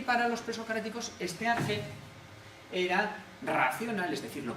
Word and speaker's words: arjé: Entonces lo que buscan es un principio, un arjé, que dé movimiento a todo. Arjé es una palabra griega, se escribe ARJE, arjé, aunque también se puede escribir con KH, tiene distintas maneras de escribir, le vamos a poner esta.